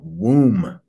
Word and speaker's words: womb: the way that's spelled womb that the b is just about silent on that thing womb in fact it might be totally silent but this isn't health